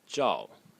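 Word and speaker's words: 兆: And the last character is pronounced zhao.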